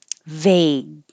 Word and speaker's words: vague: just need one eye vague again you hold the G you won't hear it vague which means not clear